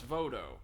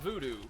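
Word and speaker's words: Vodou: form of a religion known as voto not voodoo voodoo is like kind of uh a pigeon pronunciation of the same that applies to like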